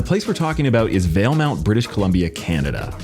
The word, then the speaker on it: Valemount: Veil Mount Veil Mount Veil Mount is how you say it but now that this